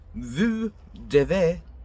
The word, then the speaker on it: devez: Vous devez, do not pronounce the Z at that part.